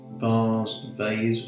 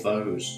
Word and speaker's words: vase: A little bit of water onto the vase or vose, depending how posh you are, is how you say it.